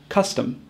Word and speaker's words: custom: A great word to identify the difference between a short U and a schwa is the word custom. We have a at the beginning with a U, cuss, and a at the end with an O, tum, custom.